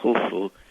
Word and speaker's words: Khufu: an F, and then there is a symbol which is a circle with crossed lines that supposedly represent a sieve that is pronounced so it's U, F, U, Khufu, which we call Cheops in English.